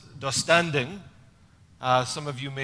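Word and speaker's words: döstädning: Um, it's a particular way of doing cleaning and it's pronounced dustanding.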